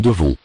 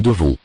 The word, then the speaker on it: devons: Nous devons. Nous devons. Final S is not pronounced.